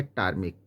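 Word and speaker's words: ptarmic: हो जाता है साइकोलॉजी जहां तक हम बात करते हैं पी के बाद टी की तो पीटी जिसमें हम बोल सकते हैं कि टर्म means PT ए आर एम आई C means ये बनता है टर्म पी को साइलेंट रखा जाता है यहां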